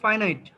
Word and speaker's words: finite: বিচ্ছিন্ন করা হলেও ওটার উচ্চারণটা হচ্ছে ফাইনাইট।